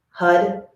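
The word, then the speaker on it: Har: and the mantra is Hud, Hud, Hud, Hud, Huddy, Huddy. So remember when we say Hud, we roll our R's, our tongue hits our upper palate, and Huddy is 2 syllables.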